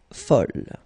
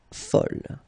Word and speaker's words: fol: And here is the second masculine form, and it's folle. And the feminine form is folle. Okay, same thing here, same pronunciation, but then you write them differently.